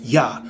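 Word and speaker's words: YHWH: today to worship only why HWH pronounced yah songs 68 and for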